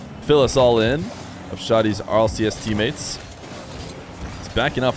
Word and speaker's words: Shadi: against Luis p shoddy by the way is the way I say his name I believe we had some time discussing how to say it correctly I know a lot of people are going to read Shady Nice Shot here as